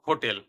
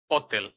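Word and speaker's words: hotel: থাকে ঠিক আছে উদাহরণ অতেল অতেল যেমন এটা যদি ইংরেজি শব্দ হতো তাহলে হতো হোটেল কিন্তু যেহেতু এটা ইতালিয়ান শব্দ এই উচ্চারণটি হবে অত্তেল। আর আর অক্ষর দিয়ে সবসময় ট্রিলট বা রোলড উচ্চারণ হয়।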